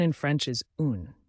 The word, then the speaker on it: un: Number 1 in French is un, pronounced like in.